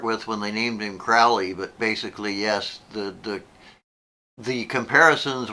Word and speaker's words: Crowley: It's Crowley like holy.